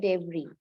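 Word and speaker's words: debris: এই এসটা উচ্চারণ হবে না, উচ্চারণ শুধু হবে ডেব্রি।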